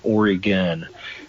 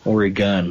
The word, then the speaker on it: Oregon: favorites Oregon um I always just say o pronounce it o r YG u n Oregon Oregon like that so I know it sounds silly